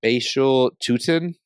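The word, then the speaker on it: Bhayshul Tuten: Jaden Higgins, wide receiver from Iowa State, or mispronouncing the name Bashul Tutin.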